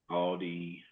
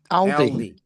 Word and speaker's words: Aldi: Aldi.